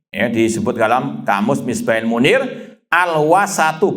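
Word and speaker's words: الوسط: Disebut dalam kamus Misbahil Munir, al-wasatu, bacanya dengan al-wasat, diharokati semua.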